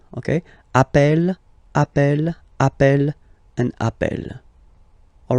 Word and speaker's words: appelle: You tend to pronounce it like really open. That's the reason why you pronounce it appel. Okay, appel, and appel.